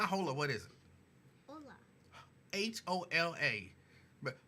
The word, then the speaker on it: hola: Jerica says, hola, me familia, good afternoon. That's how you pronounce that, ain't it?